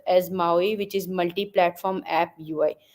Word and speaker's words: MAUI: this particular module is so it is called Maui it is pronounced as Maui which is multi-platform app UI so what multi-platform